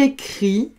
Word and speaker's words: écrit: Il écrit avec un T qui s'écrit et ne se prononce pas.